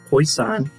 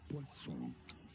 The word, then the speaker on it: Poisson: Poisson is how it is said in France. Poisson.